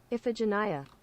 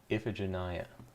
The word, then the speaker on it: Iphigenia: Oh, apparently, how to pronounce Iphigenia. Iphigenia. Iphigenia.